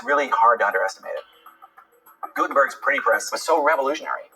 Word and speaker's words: Gutenberg: Gutenberg's printing press was so revolutionary. His name certainly lives on as one of the great inventors of human history. So for the printing press, so invented by Johannes Gutenberg, that's how you say his name.